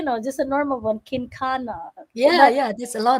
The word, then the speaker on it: Kencana: last name hi sis you can pronounce me kinana ah sorry i i s